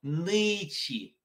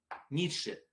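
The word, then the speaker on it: Nietzsche: И научились писать слово, а читается оно нычи. Ницше. По-английски будет нычи.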